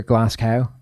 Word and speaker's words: Glasgow: Who's the other Glasgow? Is Graham? Ryan. And Ryan Glasgow. Not the way you pronounce it, just isn't, because it's named after a place.